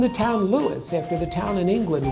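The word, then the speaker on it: Lewes: more palatable name, and we've been Lewis, two syllables, ever since.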